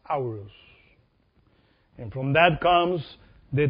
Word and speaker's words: Horus: was aoruz it's written h-o-r-u-s horus but it's pronounced hours and from that comes the t which is